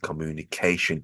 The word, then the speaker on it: communication: the word communication um the stress in this word communication is over the a syllable and vowel sound at the end communication make sure you get the word dress in that right position moving on to the